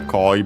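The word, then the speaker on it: コイ: Uh, by the way, there's uh there are other koi, but we won't focus on them for now. Uh, this one accent on the first syllable.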